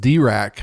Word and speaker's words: Dirac: He introduces the idea of evolving coupling constants, and these were hypothesized by Paul Dirac, which is pronounced Dirac, I believe.